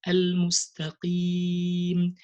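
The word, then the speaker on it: المستقيم: Al-mustaqim, al-mustaqim.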